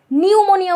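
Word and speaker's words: pneumonia: ইংলিশে লিখতে যাও সেক্ষেত্রে সামনে একটা সাইলেন্ট পি থাকে। পি এনই ইউ এরকম করে। তাহলে পিয়ে শুরু হবে। এই জায়গাটা কিন্তু ভুল করিও না। নিউমোনিয়া উচ্চারণ করতে যাইয়ে এন দিয়ে শুরু করে দিও না।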